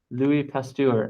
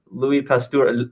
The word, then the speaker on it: Pasteur: Louis Pasteur.